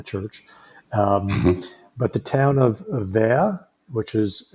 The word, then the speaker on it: Vergt: But the town of Ver, which is Vergt, it's pronounced Ver, is maybe 2 or 3 miles down the road, which has everything you need.